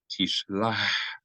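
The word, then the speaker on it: תִּשְׁלַח: As we mentioned in the previous Aliyah, Het is pronounced more like the letter H than the letter Chaf. So if it's going to be mispronounced, it's better to mispronounce it as a H sound, as in English, help, him, her, rather than mispronounce it as a Chaf.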